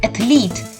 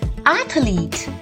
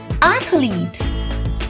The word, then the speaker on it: athlete: an athlete but do you know the correct pronunciation for this it is not athlete it is athlete say it once more with the stress on the the syllable athlete athletes as a kid when I had